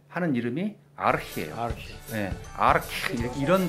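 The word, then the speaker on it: архи: 알코올도 가고 몽골 사람들이 지금도 술을 부를 때 하는 이름이 아르히예요. 아르히 이런 발음 나요.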